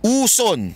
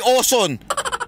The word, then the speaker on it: Uson: pinulot wala yung moka uson na yung original na moca uson ang paulit ano moka uson sino ba y moka uson pang ina naman oh pagbabanggit moka uson letter u uson uson hindi oson Sinong oson napa Alam